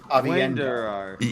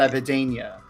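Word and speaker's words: Aviendha: He would walk up to a podium and just go, "It's Avienda, not Avidania.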